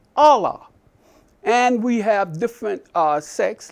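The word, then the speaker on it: الله: the an and Arabia the Arabic pronunciation for God is Allah and we have different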